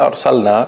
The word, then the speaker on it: أرسلنا: The word أرسلنا, make sure you pronounce the lam properly.